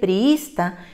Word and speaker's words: priísta: grupo del siete y la penúltima sílaba es is dice priísta y como coincide con